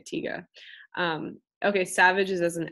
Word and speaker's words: Tiger: And in German it's just der Tiger, so or tiga, actually you would say tiga.